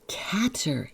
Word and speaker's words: Cather: by ready will AA will a Cather will a catter yes I've heard all the pronunciations I'm going to try to stick with Cather I almost made it